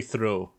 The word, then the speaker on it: Theroux: Fuck Louis Theroux. Louis Theroux. Theroux, yeah. Fuck Theroux. I want to throw, not through. That's how he pronounces it himself.